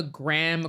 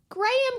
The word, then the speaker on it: graham: I always thought were graham crackers graham is how Americans pronounce Graham which is weird I've heard that in